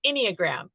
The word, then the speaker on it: Enneagram: I mispronounced it. Well, it's Enneagram. Enneagram.